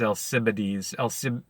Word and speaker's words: Alcibiades: I think it's Alcibiades. Alcibiades. I'm pretty sure that's what it is.